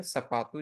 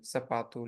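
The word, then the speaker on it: sapato: अगर स किसी शब्द के शुरू में आता है तो वो है सपातु, जैसे सपातु, लेकिन अगर वो कहीं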